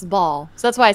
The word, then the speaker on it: Baal: question when you grew up did your pastor pronounce it ball or Bale I always heard it as baale Bale I